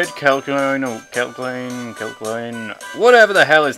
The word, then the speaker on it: Kecleon: I'll continue to pronounce it as Kelsian. I don't care that it's the wrong way.